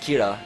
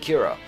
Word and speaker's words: Kira: And killer is pronounced Kira in Japanese.